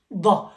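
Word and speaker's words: ض: It is called da. It goes from both sides of your jaw or of your mouth, and even the tongue is like weird way in the middle. It's very complicated to pronounce it, but it is da, do, like the light. So da is a very difficult letter.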